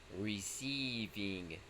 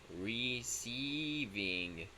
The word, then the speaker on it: receiving: This is receiving, like a long E. Receiving.